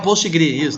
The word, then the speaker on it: Postgres: Postgres, banco de dados Ah. Postgres. Tá bom, eu não tava entendendo a pronúncia só. O Postgre, Tá, né, que eles chamam? É o Postgres, isso.